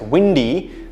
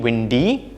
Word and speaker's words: windy: know there's a lot of wind outside it's windy like that and that's the correct pronunciation windy windy um but if you see a situation